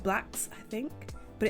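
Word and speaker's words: Blxst: insert here featuring thai dollar sign it's like blacks i think but it's oh yeah yeah yeah no that's how you pronounce it you said it all right b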